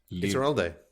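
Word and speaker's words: Ituralde: How do you pronounce his surname? I would love to hear Willie and Moritz's renditions. No. Iturralde.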